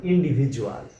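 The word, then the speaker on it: individual: অর্থাৎ ডির সাথে জি না থাকা সত্ত্বেও বাংলা বর্গীয় জ এর মত উচ্চারণ করতে হয়। তেমনি এক নাম্বার প্রশ্ন শব্দটি হল ইন্ডিভিজুয়াল।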